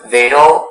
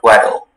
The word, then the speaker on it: wedel: The word can be pronounced wedel or wedel.